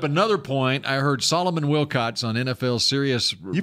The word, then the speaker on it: Wilcots: I heard Solomon Wilcots on NFL Sirius. You pronounced his name right.